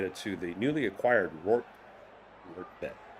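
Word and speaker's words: Rortvedt: to the newly acquired Work Ret is how you pronounce his name.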